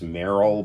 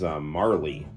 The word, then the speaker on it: Marle: My name is I always pronounce her name as Meryl, but there are some people that think of her name as Marley.